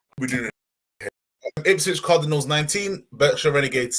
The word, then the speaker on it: Berkshire: Well, pretend the fucking E's an A. Just pretend the E's an A, and then you're fine. Berkshire.